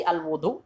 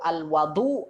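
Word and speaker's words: الوضوء: Apakah dibaca dengan al-wudu atau al-wadu atau al-widu? Nah, dibaca seperti apa? Katakan di sini wa huwa bi dhammil wawi fil ashhar ismun lil fi'li.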